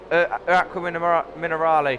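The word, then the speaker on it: Acque Minerali: Alessio then has spun Aqua Minerale.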